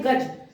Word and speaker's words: गजः: फिर आता है गज, हिंदी वर्ड है देखो, तो गज के आगे विसर्ग रखा, गजः। प्रोनाउंसिएशन यानी साउंड हमारा क्या होना चाहिए? अह, यही।